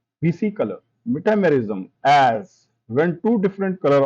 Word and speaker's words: metamerism: And this is where the dreaded word metamerism comes into play. Metamerism, pronounced may, tam, er, ism, is greatly misunderstood as